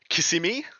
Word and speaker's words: Kissimmee: I want you to try to pronounce the city, Adam. Okay. Crucible 9 in Kissimmee. It is Kissimmee.